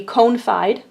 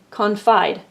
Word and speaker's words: confide: Again, if we divided it somehow awkwardly there, it would be confide, but we divide it here. We close off that syllable, so now it says its short name, confide.